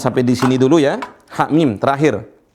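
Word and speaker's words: حم: Ha mim terakhir. Cara bacanya ha mim, hanya dibaca 2 harokat saja.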